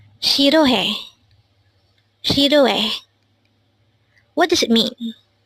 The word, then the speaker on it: 싫어해: Again, it's SIRHEOHAE. It is pronounced as a three-syllable word. The first syllable is shir, second syllable is o, and third syllable is he. Pronounce it with me. SIRHEOHAE. SIRHEOHAE.